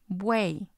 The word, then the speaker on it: buey: We have, for example, the word buey. Buey. And it's actually just one syllable because the letter Y is treated like the I.